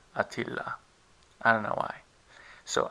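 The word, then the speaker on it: Attila: Turkish this name is spelled with two two T's and one L but instead pronounced with one t and Double L so we write ATA but we pronounce Atilla I don't know why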